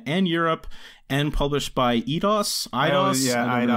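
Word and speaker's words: Eidos: in north america and europe and published by edos yeah i know how to pronounce it okay idose uh and this was also exclusively for the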